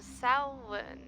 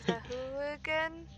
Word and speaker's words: Sahuagin: Well, the lizard folk were just trying to protect their village from the Samhain. The what? The Samhain? Is that how you pronounce it? No. Sahuagin?